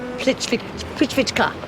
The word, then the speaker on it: Plitvička: Forgive the way I pronounce the name, I'm trying really hard, but if I was Croatian, it would be Plitvička.